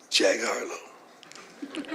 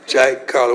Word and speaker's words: Jack Carlo: Jack Harlow. Oh, Jack Harlow. Did I say it right? Jack, C-A-R-L. Carlo. See, I messed it up again. Jack Carlo.